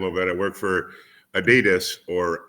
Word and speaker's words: Adidas: I work for Adidas, or Adidas if you're in Australia. They pronounce it a little differently.